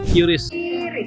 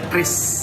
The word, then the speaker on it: QRIS: Curis, curis curis curies curis itu bacanya Kris Kris Kris Kris Kris ya tinggal scan aja Kris bukan curis loh ingat Kris bukan curis Yeah.